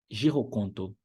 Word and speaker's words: Girokonto: Girokonto, tudo junto, com a sílaba tônica em cima do i. Girokonto. Girokonto.